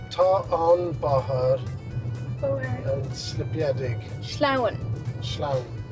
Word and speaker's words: sleamhain: Sleamhain. Sleamhain... it sounds onomatopoeic. It sounds like you're sliding - "sleamhain"!